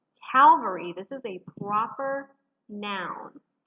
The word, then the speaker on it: Calvary: are words that are often confused in their pronunciation calvary this is a proper noun and it refers